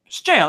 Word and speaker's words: gaol: gaol gown now jail jail isn't it right yes jail even though it's spelled stupidly yeah right so it's